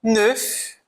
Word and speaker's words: neuf: Outras consoantes que são pronunciadas no final, neuf, o F eu vou pronunciar, animal, eu vou pronunciar o L, com esse som do L, né?